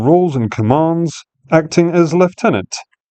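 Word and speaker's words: lieutenant: and commands acting as left tenant. Yes, that's how it's actually pronounced for those of you living in the colonies because it's a French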